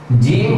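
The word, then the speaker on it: ج: আবারো আয়না দেখিয়ে দেখিয়ে আপনাদেরকে উচ্চারণটা দেখিয়ে দিচ্ছি জিম হরফটি উচ্চারণ করা হবে জিম জিহ্বার মধ্যখান ঠিক এই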